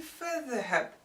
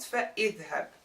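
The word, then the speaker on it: فاذهب: The hamza is elided for an easier pronunciation. So we would say fadhhab, not fa'idhhab.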